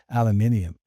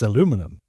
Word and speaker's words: aluminium: in solar system history is 26 aluminium. Yeah. You may hear of it as aluminum.